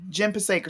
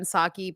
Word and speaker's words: Psaki: Jen Pasek or something like that. Jen Psaki. Psaki. Okay. I said Pasek.